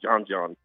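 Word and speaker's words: djon djon: Uh called it's spelled DJ O N DJ O N twice called John.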